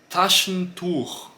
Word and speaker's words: Taschentuch: Esse aqui eu estou utilizando também o T. Não, o T, ele tem essa pronúncia mais explosiva também, tá, pessoal? Se eu falar Taschentuch, Taschentuch, eu não sinto essa explosão, tá?